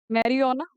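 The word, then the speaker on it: marijuana: ठीक है, तो एग्जाम्पल में कौन कौन आ जाते हैं ये, मैं मैरियोना। ठीक है, जी इसके अंदर आ रहा है पर जे साइलेंट है, मैरियोना, गांजा, हाशिश, चरस, ये सब इसके एग्जाम्पल है ये।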